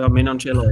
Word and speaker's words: Menoncello: How do you say that number 13's name for Benetton? Menoncello or Menon what? Yeah, Menoncello, yeah. Holy shit, that guy can ball.